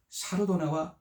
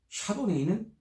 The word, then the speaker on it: 샤르도네: 와인을 처음 마시는 사람들에게도 와인을 어느 정도 마셔본 사람들에게도 샤르도네와 소비뇽 블랑은 실패 없는 선택입니다. 왜냐하면 이 두 품종은 스타일이 정말 다양하기 때문이죠. 여기서 먼저 샤르도네에 대해서 알아보겠습니다. 샤르도네는 프랑스식 발음이고 샤도네이는 미국식 발음으로 같은 겁니다.